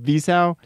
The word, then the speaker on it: Wiseau: Wiseau.